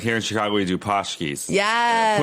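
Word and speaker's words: pączki: Like here in Chicago, we do pashkis. Yes. Punchkis. They're pronounced punchkis, which is Polish, and that's just like a fatty donut filled with cream.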